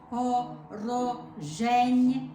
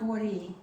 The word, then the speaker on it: вороженьки: Oh, ro or re? Р. It's a R. Okay. Вороженьки. Okay, we have that spelled wrong then. The third line, Let's see where you have it. we've got vori. No, it's not вори, for sure. Okay, it's an O. It's then. вороженьки. Вороженьки is a word means our enemies, and it's definitely an O.